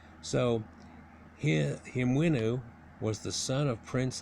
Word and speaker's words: Hemiunu: like him is the way it should be pronounced so he him winoo was the son of prince nephromat and his